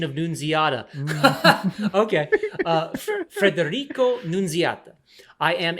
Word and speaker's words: Nunziata: Amazing pronunciation of Nunziata.